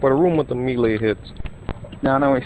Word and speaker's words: melee: Like the attack on the delay, like the melee.